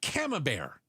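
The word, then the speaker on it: Camembert: Oh, or a cam bear. Did I pronounce it properly?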